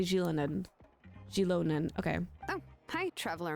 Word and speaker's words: Xilonen: That's how they say it. Xilonen. I say Xilonen.